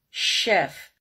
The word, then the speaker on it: chef: C1 to C2 level chef chauffeur so why are they higher level because here the CH sounds like an sh but it's not request a video